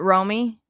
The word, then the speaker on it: Romy: Oh, is it Romy? R-O-M-Y. Romy? Yeah, Romy. Like, what was it? Romy and Michelle's Wedding or something? Romy and Michelle's High School Reunion.